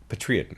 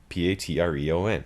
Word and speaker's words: Patreon: If you're yeah, Patreon. That's how it's spelled. Patreon.